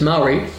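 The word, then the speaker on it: Māori: or I wouldn't know I would have said mayori but it's Mai about 60,000 people speak it as a primary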